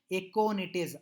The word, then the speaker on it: aconitase: Whereas this reaction is catalyzed by aconitase. I think a name little difficult, so I will pronounce it once again.